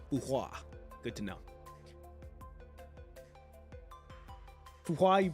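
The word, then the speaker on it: Fu Hua: Name, Fuhua. Good to know. Fuhua, you pronounce well.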